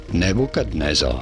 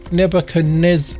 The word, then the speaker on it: Nebuchadnezzar: this king of Babylon nebukadnezar Nebuchadnezzar okay I just learned something I've never been pronouncing the D in nebuchad neb Nebuchadnezzar anyway that's how to say